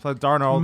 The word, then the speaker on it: Darnold: Because that Darnold might have been the worst. Like, is he starting? Yeah, he's starting. And it's Darnold, by the way.